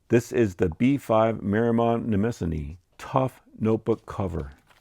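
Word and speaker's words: Nemosine: And now we come to Nemassani. That's how that's pronounced, Nemassani.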